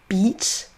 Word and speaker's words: beach: très souvent mal prononcés le premier beach c'est un i long on là ça se dit en français ça se traduira par la plage.